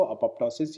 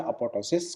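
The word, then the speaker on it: apoptosis: एक पी कई जने साइलेंट लेते हैं, एक पी कई जने इसको बोलते हैं। तो दोनों चीज़ें वैलिड है कि अपोप्टोसिस बोले या अपोटोसिस बोले, दोनों चीज़ें एक ही है।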